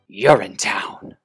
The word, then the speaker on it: Urinetown: Urinetown. The P is silent.